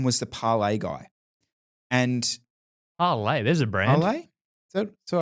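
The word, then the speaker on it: Parlee: And Parlay, there's a brand. Parlay? So I pronounced that correctly? Parlay.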